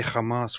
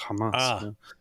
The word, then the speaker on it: Hamas: have the sound they usually they say Hamas for example when it's Hamas I actually like that